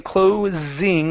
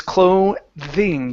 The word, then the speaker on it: clothing: a clothing store okay give me a good th you're saying cling like the story is closing for business but it's clothing use your tongue there